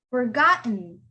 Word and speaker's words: forgotten: That T becomes silent. You don't hear that T. It's kind of there, but it's not there. You don't pronounce it as forgotten.